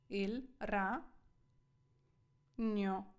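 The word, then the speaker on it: ragno: хто як говорить але італійською це вимовляється як нь нь знову та д не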